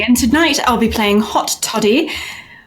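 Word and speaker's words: Haute Toddie: tonight i'll be playing hot toddy not the way you think it's spelled h-a-u-t-e-t-o-d-d-i-e and i'm a human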